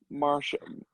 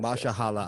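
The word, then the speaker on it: Mahershala: Mashallah Ali. Yeah, that's how you say it.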